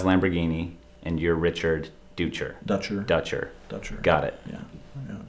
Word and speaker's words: Dutcher: here with uh richard ducher hi richard it's dutcher not duecher no it's richard dutcher all the other interviews